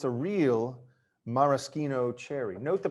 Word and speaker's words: maraschino: thing it's a real maraschino cherry note the pronunciation not maraschino this is an italian maraschino cherry it's made by the